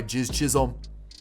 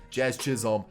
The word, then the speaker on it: Jazz Chisholm: You know how electric that is by Jizz Chisholm? I know I said his name wrong. I did it on purpose. Jazz Chisholm, have yourself a World Series.